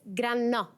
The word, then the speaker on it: Grannò: Very good, but it's Granno. GRANNO. GRANNO. PERFECT. IT'S LONG AND FAST and it's on the wrong syllable.